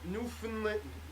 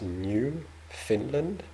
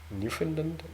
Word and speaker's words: Newfoundland: With the emphasis on the new. Newfoundland. Newfoundland. I don't know if I'm saying it correctly. Newfoundland. Newfoundland, right? What? Yeah. English is not my first language. Yeah. Not the Fin, which is like an FN, not even an I.